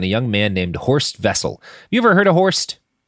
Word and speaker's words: Wessel: like that shaped it's spelled Horst Wessel but I think it was pronounced vessel because it's it's German with the with the W's and